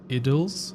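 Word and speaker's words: Idylls: This one's actually pronounced idles.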